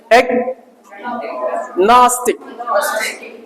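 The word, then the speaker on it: agnostic: ये जानते हो स्ट्रेस वाला, पुराने वाले बता दिया, ये लगेगा, इसका मतलब इसको, इस वाले को क्या ऊंचा पढ़ना है, एग्नोस्टिक।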